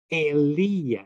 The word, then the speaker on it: Elia: speaking about is, and I'm going to say his name in Aramaic, Elia. Elia is how we say his name.